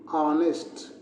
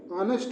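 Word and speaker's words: honest: H silent है और उच्चारण क्या होता है? ऑनेस्ट। उच्चारण क्या होता है? जी ऑनेस्ट होता है।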